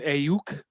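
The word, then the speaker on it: Aiyuk: Um, and then you got Brandon, the outstanding rookie, Brandon Ayuk. Is that how you pronounce it, Jeremy? Yep. And Brandon Ayuk.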